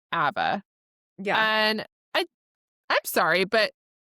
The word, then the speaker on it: Ava: Every Uber driver I've had, it's Eva. Like it's it's EH is how they're pronouncing like the Eva A. or Ava. Yeah.